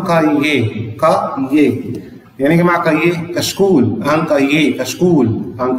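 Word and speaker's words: cahier: تروس، يعني مقلمة، أن كايه؟ الإير هنا غير منطوقة، ما حدش يقول لي كايير ولا لأ، أن كايه؟ والأش ما انطقهاش، كايه؟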